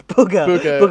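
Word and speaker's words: Bugha: booger his name's booger his name's booger as in bogey uh it's spelt b-u-g-h-a booger uh like the boogie man uh so then so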